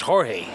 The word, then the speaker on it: Jorge: uh Corky okay but his name is George it's George but it's actually I mean in Spanish it's Jorge so you couldn't say